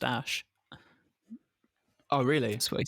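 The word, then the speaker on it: Æ: I mean, AE apparently is pronounced Ash.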